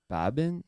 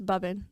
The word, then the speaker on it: Baban: I'll be in Dallas yeah how do you pronounce it it's Babin Babin Babin yeah but at home it's bubin bubin okay and is that like your nickname